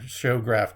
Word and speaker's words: Xograph: It's spelled like it's spelled with an XO. Showgraph Company. It's XOGRAPH, and I think that's the company that put on the lenticular plastic type material on the front.